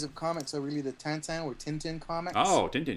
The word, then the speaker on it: Tintin: I call it Tintin because in Canada, of course, we speak French partly, and it's a French comic, so a Belgian comic or something. So I tend to gravitate towards the French pronunciations.